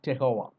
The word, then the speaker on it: terroir: There is a term called terroir, Terroir. So in English it is called terroir, but in French it's a French term. It's called terroir.